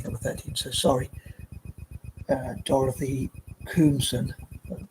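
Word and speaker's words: Koomson: Dorothy Coomson, pronounced her name right, spelled K-O-O-M-S-O-N.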